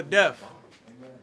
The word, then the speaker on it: Deth: to keep him alive my name is death without the a so both of you speak about the name it don't matter how it's spelled it's still going to be pronounced the same appreciate y all